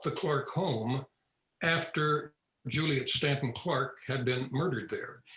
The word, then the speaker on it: Staunton: incidentally it is pronounced stanton it's spelled s-t-a-u-n-t-o-n and many people pronounce it staunton but these stantons pronounce it stanton so it's stanton road